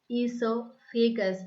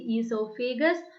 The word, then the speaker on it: esophagus: Okay, esophagus. You do not pronounce it as oesophagus. The O is silent here. Okay, O is silent here. We need to pronounce esophagus. Okay, esophagus.